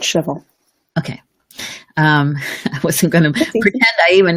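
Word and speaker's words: Shavuot: it's a revelation of I'm gonna mispronounce this showboat shuffle shuffle either way yes okay so can you say it correctly for us please we call it shovel okay what's gonna be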